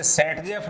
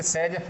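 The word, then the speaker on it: Saytzeff: ठीक है, देखिए अब आता है साहब, आप अभी अभी चर्चा कर रहे थे कि सेजफ, इसमें टी साइलेंट है, इसे सेटजेफ नहीं बोलते हैं, इसे सेजफ बोलते हैं।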